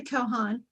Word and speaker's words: Kochan: Okay, well, I'm Kochan. The C is silent just to confuse people.